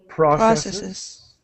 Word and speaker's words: processes: So there's an extra syllable with the plural. So processes.